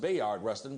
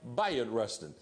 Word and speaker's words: Bayard Rustin: that day bot Rustin his name is often pronounced Bayard Rustin because that's how it's spelled but he called himself Bayard Rustin um he was the G he was the